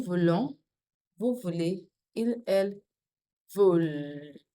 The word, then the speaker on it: veulent: Je veux, tu veux, il, elle veut, nous voulons, vous voulez, il, elle veulent. The L is pronounced. That's it. Don't worry, the ENT isn't pronounced.